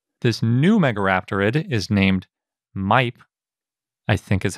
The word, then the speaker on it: Maip: This new megaraptorid is named Maip, I think is how you pronounce it. It's spelled M-A-I-P. That's basically how you pronounce it in Spanish and English, so that's what I'm going to go with.